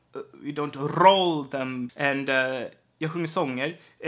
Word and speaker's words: sjunger sånger: So when you have a word ending on an R, and the next word is beginning with an S, then you can have this sound is also used.